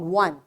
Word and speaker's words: one: here now you see though the letter is wall but its sound is consonant and here this o is giving w sound one right that's why instead